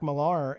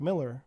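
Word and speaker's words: Millar: This whole time I've been saying Mark Malar and it's Mark Miller but he spells it he's British he spells it with an A.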